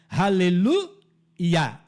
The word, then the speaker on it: aleluia: Os salmos de aleluia, é assim que se pronuncia, aleluia, onde Iá é a abreviatura do nome Iavé.